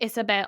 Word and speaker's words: Iseabail: It does look like Isabelle like Isabelle. Like Isabelle. It's not. It's Isabel.